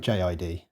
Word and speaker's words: J.I.D: Imagine Dragons featuring J I actually looked up how to say J to see if it was jod or jit and I found an interview with him saying it can be pronounced either way or both ways although for this track I see that they have separated the letters out so we'll go with jid I haven't seen the